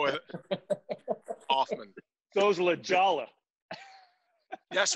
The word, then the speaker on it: Hoffman: The H in Hoffman is silent, actually. So it's just Hoffman. That's how we just go with it. Hoffman.